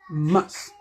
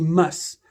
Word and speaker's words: must: Must. Et vous verrez qu'avec ce verbe de modalité, le T n'est pas franchement prononcé. Donc, on dit must. Vous ne verrez pas quelqu'un dire must.